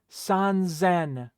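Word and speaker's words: 三千: Sanzen. Right? Notice that it became a Z sound.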